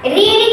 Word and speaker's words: read: Okay, रीड की spelling तो वही रहती है, लेकिन उसे पढ़ा जाता है रीड, रेड।